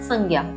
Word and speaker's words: संज्ञा: हिंदू धर्म की संजा अर्थात संज्ञा सही उच्चारण तो इस शब्द का है संजा अत में संजा ही